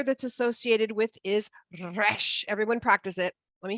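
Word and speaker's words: ריש: It's kind of like when you're learning Spanish and you have to like roll your R's, right?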